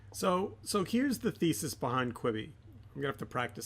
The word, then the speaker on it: Quibi: This is going to be, it's Queeb. What is the pronunciation? Quibi. Quibi. Yeah. So kind of like quibble, like the multiple of quibble. If you're gonna have multiple quibbles with somebody, you'd have a Quibi.